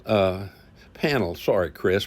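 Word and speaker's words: Pannill: joined us uh Quinton Hermes and uh Chris banel uh panel sorry Chris p a n n i l l sorry about that pronunciation but uh both these guys as as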